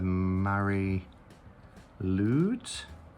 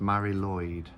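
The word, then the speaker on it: Mari Lwyd: Now, I don't know this character, the Mary Lude. Okay, so I've just looked it up, and it's from Welsh mythology, and it's pronounced Mary Lloyd, and it says the name Mary Lloyd translates to grey mare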